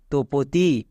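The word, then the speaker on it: Tapati: আমরা কি উচ্চারণ করব এখানে এ এর উচ্চারণ করবো না তপতি নেক্সট এবার দেখো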